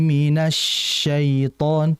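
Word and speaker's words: مِنَ الشَّيْطَانِ: Ee perhatikan minasy tadi sedikit lagi dialirkan. Jadi ee mungkin tadi efek terlalu cepat juga bacaannya. Jadi ditahan dulu ya. ee bukan ditahan tapi dialirkan. Iya. Auzubillahi minasyaitan. Kenapa? Karena karena dia bertasydid dan tafasyi. Sifat tafasyi ini khusus untuk syin.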